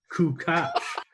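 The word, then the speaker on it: Kukoč: And how about us finding out that we've been pronouncing Tony Kukoc's name wrong? It's actually Tony Kukoc.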